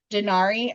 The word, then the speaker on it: denarii: Mm, And at the inn, he gives the innkeeper 2 denarii, I believe is how you say the Roman coin.